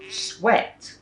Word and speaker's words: sweat: Sweat is 1 syllable. They are consonant clusters at the start of words. Anytime a word has more than 1 consonant at the start, Thais will turn into 2 syllable words or add an extra syllable. Sweat, not sweat.